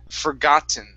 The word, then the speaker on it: forgotten: Now here, we cannot pronounce the double T like a D sound, okay? Because there is an E, a vowel, and an N right afterwards. So instead of forgotten, it's forgotten or forgotten.